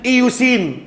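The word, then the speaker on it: eosin: لكن انا بخلي بس ودانك تسمعها النطق الصحيح مره. اسمها هيماتوكسلين اللي هو حرف الايه؟ الاتش اند ايوسين اللي هي الصبغه الثانيه.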